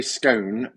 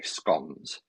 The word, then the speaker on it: scone: I say scone to rhyme with gone. Yeah, that's another point of contention. Is it scone or is it scone? My grandmother used to say scones. We'll have some scones. I used to look at it strange, but for us, it's scone rhyming with stone.